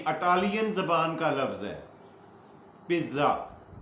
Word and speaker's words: pizza: کا لفظ ہے پیزا، لیکن اٹالین اسے پیزا نہیں پڑھتے نہ بولتے ہیں، لکھتے ایسے ہی ہیں، سپیلنگ یہی ہے PIZZA، لیکن یہ اٹالین گرامر کا اصول یہ ہے کہ جہاں پہ ڈبل زیڈ آ جائے اس سے پہلے ہلکا سا ٹی کا ٹچ دیا جاتا ہے، بولنے میں ہلکا سا